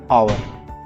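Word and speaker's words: hour: और ठीक उसी प्रकार से यहाँ पर देखिए इट इज आवर, इसको एच साइलेंट पढ़ते हैं, यह होता है आवर।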